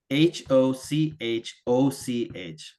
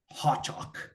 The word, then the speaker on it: Hochoch: And there's a garrison town at the far border of the Duchy of Geoff, and it's very hard to pronounce. It's Hochoch. So I say Hochoch.